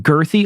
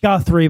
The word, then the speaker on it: Guthrie: Summit View Cemetery in Girthy, Oklahoma, a burial ground famous for housing old west outlaws. Around 300 people Guthrie, but you pronounced it girthy.